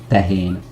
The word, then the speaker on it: tehén: tehén How do you say that the sound a cow makes in Hungarian?